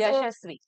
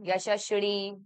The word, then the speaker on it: यशस्वी: देखो, ये मेरा बहुत ज्यादा पर्सनल इसलिए था क्योंकि मेरा नाम, like I told you in the start also, यशस्वी. यशस्वी, you are amongst very few people who pronounced my name correctly. I think Yeah. वो मेरे दिल की चोट आप समझ गए. बाकी like I told you, Yashashri, Yashashri, must be the most common.